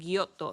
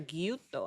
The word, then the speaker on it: Gyutto: I think I said Guyoto in the beginning. Sorry. Guuto, I think is how you actually pronounce it.